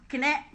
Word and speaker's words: KKNE: Kumibo Ka Naman Enrile, with the acronym KKNE, or pronounced Kine.